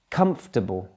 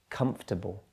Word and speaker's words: comfortable: developer developer and finally comfortable stress there primary stress is at the beginning of the word comfortable so sometimes we get